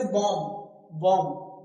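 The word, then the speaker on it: bomb: तो देखो एम के बाद बी आया है। लिखना है। जब भी बॉम्ब की स्पेलिंग कोई पूछे तो बॉम्ब की स्पेलिंग लिखेंगे यही। लेकिन जब उसे बोलेंगे तो क्या बोलेंगे? बॉम्ब। क्या? बॉम्ब। तो यहां बी साइलेंट।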